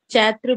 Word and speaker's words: चैत्र: चलेंगे वहा प पढ़ते हम चैत्र होता है कई लोग चैत बोलते इसको तो चैत्र होता है वैशाख इसको जेठ